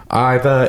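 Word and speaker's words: Ivar: But she said that Brittany was on it and said that he pronounces it Iva. I guess that's like the British way to say it.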